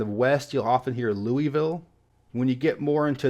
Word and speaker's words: Louisville: all people pronouncing it I think most people who live there do a combination of Louisville and Louisville with the they keep the Lua but then the Ville at the end with a Louisville so it's not the northern Louisville or the Southern Louisville but kind of in the middle which is pretty fitting